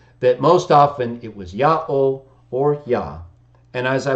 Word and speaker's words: Jah: and Greek scriptures and there's no dispute really over how to pronounce it everyone agrees that Iota alpha or yod he is yah yah J in English and that's the language